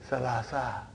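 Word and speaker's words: ثلاثة: So that is why you have salasatun. But in pronunciation we will say salasa.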